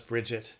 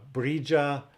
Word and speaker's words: Brigid: And you know, her name, Bridget, there's several ways to pronounce it. Sometimes it's pronounced Bridget. That's kind of the most common, kind of in the Western world or in America. But she can also be pronounced Brija or Brija or Bria, or sometimes even Brig, which isn't really that common.